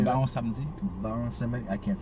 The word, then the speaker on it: Baron Samedi: There is this lua called Baron Samedi. How do you say Baron that? Samedi. Baron Samedi.